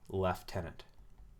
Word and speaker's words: lieutenant: hand which is just abbreviated as lt or left tenant now notice i've been saying lieutenant this entire